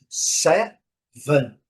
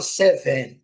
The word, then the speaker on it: seven: Tentando aproximar, vou sempre repetir isso. Seven, seven, seven, ok? A gente fala seven, né? Mas é seven, lembrando, né? Lembrando também o N. Qual o nome da letra em inglês, né? N, então é seven, dando uma esticadazinha aqui no N, né?